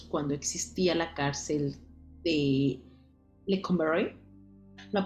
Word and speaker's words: Lecumberri: Así que la palabra joto tiene su origen en los años o en el año de 1900 cuando existía la cárcel de Lecumberri. ¿La pronuncié bien?